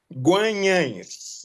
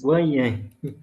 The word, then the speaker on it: Guanhães: Eu ainda hoje me bato para pronunciar o nome da Diocese. Guanhães. Guanhães.